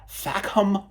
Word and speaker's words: Fackham: pronounce this one carefully, FACKHAM Hall. If you pronounce that quickly with a certain British accent, it sounds like something else.